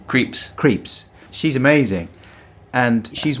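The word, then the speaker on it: Krieps: film really played by Vicky how do you pronounce her name creeps creeps she's amazing and she's working in a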